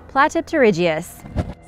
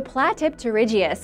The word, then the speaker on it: Platypterygius: Platypterygius. Some of you helped me out the other day when I asked for advice with the pronunciation, so thank you! I'm finally going for it! The Platypterygius was a dolphin-like ichthyosaur that was around during